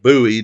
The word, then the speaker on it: Bowie: David Bowie or Bowie or Bowie, depending on your personal taste on how to pronounce it, was a British rock pop star from Bromley in Kent.